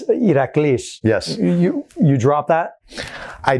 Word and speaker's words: Iraklis: When I came to America, my legal name still is Iraklis. But when an American sees the spelling, which is Iraklis, they would pronounce it Iraklis.